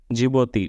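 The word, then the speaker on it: Djibouti: Sudan फिर Eritrea Ethiopia जिबोती डी से जिबोती जिबोती डी से इसलिए डी साइलेंट है डी जे आई एस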